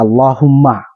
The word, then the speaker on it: Allahumma: menuliskannya atau kita membacakannya dengan Allahu tambah mim Allahumma jadi Allahu tambah mim musyaddadah mim yang bertasdid yaitu jadi bacanya Allahumma baik perhatikan e Bagaimana